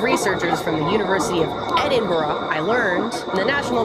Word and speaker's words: Edinburgh: It's not Edinburgh, it's Edinburgh. A team of researchers from the University of Edinburgh, I learned, and the